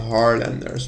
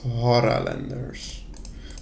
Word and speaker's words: Haralanders: I always call them Harlanders, but they are clearly called Haralanders.